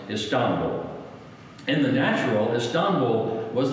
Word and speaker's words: Istanbul: Americans call it Istanbul. I lived there for a few years. It's actually pronounced Istanbul.